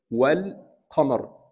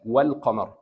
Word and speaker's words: والقمر: So the clear لام or اللام القمريه you will find this سكون on top of لام. What should I do? Pronounce this لام والقمر.